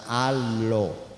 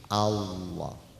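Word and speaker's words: الله: Jadi dibacanya Allah, bukan Allah, bukan Allo, tapi Allah.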